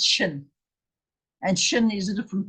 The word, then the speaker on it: Shin: This is the Shin, S-H-I-N, Shin, because the dot is on the right-hand side.